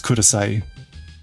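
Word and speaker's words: ください: So, I want to uh There's not an e sound at the end cuz it's sai. Yeah, but that that I is pronounced e. It's kurasai.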